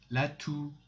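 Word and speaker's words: toux: lune the third one lat two x is not pronounced at the end la tu la tu latu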